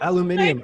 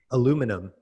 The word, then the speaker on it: aluminium: a loom and uh my poor american accent aluminum business right i know aluminium i got to work on the way to say it right yeah i don't know